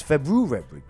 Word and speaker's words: February: That's how you say it. It's February. It's 2 R's. It's not a silent R.